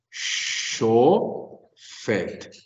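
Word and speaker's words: שׁוֹפֵט: ¿Dónde debe ir el acento? O sea, en la sílaba del fet. Pero si yo convierto esto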